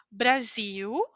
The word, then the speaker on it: Brasil: falei para vocês que quando a letra L está ao final da palavra eu pronuncio como u certo Qual é o